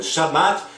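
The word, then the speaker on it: שבת: Agora, analisando o Shabat judeu da Torá, no judaísmo o sábado, em hebraico pronunciado como Shabat, significa descanso, cessão ou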